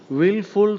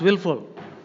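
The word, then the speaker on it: wilful: Wilfing means willful surfing. Now, willful, W-I-L-L-F-U-L. This word can also be pronounced W-I-L-F-U-L.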